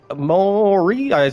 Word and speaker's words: Maurice: Maurice. Morice. That is how you say your name.